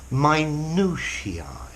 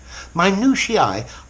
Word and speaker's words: minutiae: Notice the pronunciation. Minutiae. Minutiae are small, tiny details.